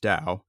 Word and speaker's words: Tao: does doubtaging mean so t-a-o it's pronounced Dao you'll also see it